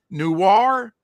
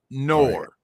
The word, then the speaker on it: noir: Noir. Did I say it right? Not new. Nor Noir.